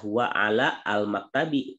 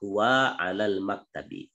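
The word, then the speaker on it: هو على المكتب: Ini alifnya tidak dibaca. Jadi tidak dibaca huwa ala al maktabi, itu salah dibacanya. Tapi yang benar adalah huwa alal maktabi.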